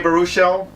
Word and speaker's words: Baruchel: Sports comedy with Jay Baruchel. That's how you pronounce his name.